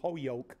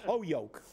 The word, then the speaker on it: Holyoke: Holyoke by the way that's the way it's pronounced in Holyoke it's not Holyoke if you know anybody from Holyoke they will tell you that it's all just called Oh yoke and Monroe which is